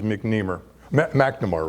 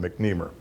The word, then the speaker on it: McNamara: So, Richard McNamara, or if you're from the East, McNemer, from what I understand, the British or English pronunciation is McNamara rather, and the American pronunciation is often McNemer, but at least that's